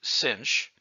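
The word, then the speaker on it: sinh: math verbal slang has s-i-n-h pronounced cinch and that rhymes with grinch and this is pronounced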